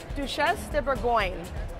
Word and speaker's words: Duchesse de Bourgogne: How do you pronounce it? Duchesse de Bourgogne, the Duchess of Burgundy.